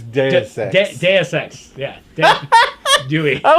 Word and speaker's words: Deus Ex: Dewey X. I guess how you pronounce it, Duex. Dewey X. It's Deus Ex.